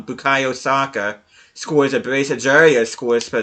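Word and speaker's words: Bukayo Saka: make it four for four uh backery soccer bukaya saka i keep on getting his first name wrong bukayo soccer scores abrasive zorya scores for them but yeah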